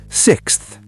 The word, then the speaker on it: sixth: Sixth. The KS and TH together. Try it.